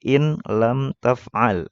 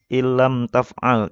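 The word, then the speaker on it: إن لم تفعل: Ini kalau normalnya kita bacanya gini nih, in lam taf'al. Ini salah kalau dibaca seperti itu. Seharusnya dibacanya ada tasdidnya. Jadi ilam taf'al tanpa didengungkan ya, tanpa digunah.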